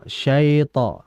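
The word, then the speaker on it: الشيطان: Maka jangan kita baca minasyait syait sya syait bukan syaai melainkan syai syai vokal i. Jadi dibaca auzubillahiminasyaitanirrajim. Sitirrajim bukan syait syait bukan e. Jadi hati-hati dijelaskan pada i-nya. Kemudian ini juga yang harus ee digaris bawahi.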